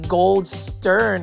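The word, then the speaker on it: Goldstern: This one is the Gold Stern Hydra Helix. That's the correct way to say it.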